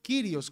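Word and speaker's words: κύριος: el se traduce con curios o kirios como se pronuncia según el griego clásico Coin Entonces cuando aparecía el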